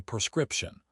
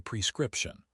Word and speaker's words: prescription: Many natives get lazy and say prescription. But the correct pronunciation is p prescription. Think of the prefix pre meaning before the doctor writes it before you get the medicine.